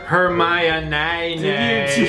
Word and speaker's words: Hermione: Pronounced Hermione.